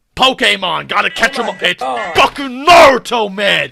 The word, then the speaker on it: Naruto: first syllable all right pronounce the first syllable all right that's all you got to do it's not the second it's the first the same pokemon this ain't pokemon gotta catch a pitch naruto man it's japanese man